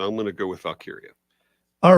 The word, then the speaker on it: Valkyria: Valkyria. Yeah, that's it. Thank you. Well, it could be pronounced different in wrestling.